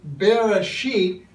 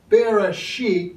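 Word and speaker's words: בראשית: including my Israeli friends our word for consideration is Bereshit there's an accent over the bee it's kind of a bee bib sound Bereshit this is the modern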